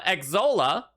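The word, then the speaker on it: Xsolla: twitch's payment processor uh exola i think that's how you pronounce it it's x-s-o-l-l-a uh to see if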